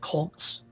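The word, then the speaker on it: kolks: were drilled out by powerful circulating eddies called colts that's spelled k-o-l-k-s huge potholes like these have an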